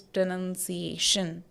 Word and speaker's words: pronunciation: write it like this here we are pronouncing pronouns but this is pronunciation so two words have two different pronunciation this is pronunciation so